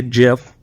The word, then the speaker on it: GIF: So over here we can see a GIF which is the correct way to pronounce it in case uh you are unaware but we see a GIF of uh welding process.